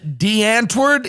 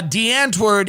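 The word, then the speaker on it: Die Antwoord: the stories i read was about this band de antard is that how you pronounce it that's right i believe it is now de antwerd is a uh south african hip-hop duo and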